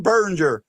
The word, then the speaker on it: Biringer: And I want to say a big thank you to my buddy, my friend, and my pal, Jim Biringer.